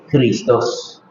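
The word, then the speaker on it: Χριστός: viene del hebreo y en griego se dice cristos es difícil de pronunciar porque no es una c sino una J cristos es difícil de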